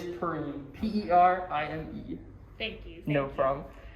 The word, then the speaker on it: Perime: So it is Perime, P-E-R-I-M-E.